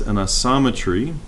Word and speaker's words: isometry: book and it says Anna sama tree that's how you pronounce that thing isometry I saw it's kind